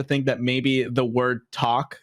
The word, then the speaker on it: TVLK: Is it pronounced talk or like TVLK or? Yeah, no, it is. It is talk. It's Talk Limited.